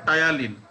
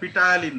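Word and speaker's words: ptyalin: The enzyme is in saliva is কি টায়ালিন, অর্থাৎ আমাদের মুখ থেকে যে মাউথ থেকে যে এনজাইমটা রিলিজ হয়, which take part the digestion of carbohydrate is called টায়ালিন। এটা কিন্তু পি উচ্চারণ হবে না, পিটায়ালিন না, টায়ালিন।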